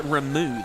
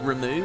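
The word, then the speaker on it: Ramuh: think they call it remu though I think they pronounce it remu which blows my mind and I don't like at all it's like the tetus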